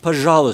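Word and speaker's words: пожалуйста: along the way that the Russian word for please when you're asking for something is pronounced pahala stop that if you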